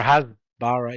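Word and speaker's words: הסברה: yeah, or hasbara, yeah, exactly. No, it's hasbara. Usually Hebrew words have stress on either the last syllable or the one Bara.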